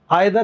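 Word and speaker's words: either: देखिए, आइदर British English में और अमेरिकन इंग्लिश में ईदर बोलते हैं। हालांकि यूके में जो नए लोग हैं ना आजकल, युवा लोग, वो भी अब ईदर बोलने लगे हैं।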